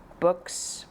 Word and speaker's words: Boox: By the way, I'm going to say this device again is the books palma 2. Um, someone has recently told me how to pronounce this name. So, it's Books, I guess, rather than box, but yes.